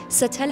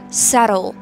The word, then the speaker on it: settle: ستل نوشته میشه, ستل هم خونده میشه, ولی خوشگلترش, خوش تلفظترش ر سرل.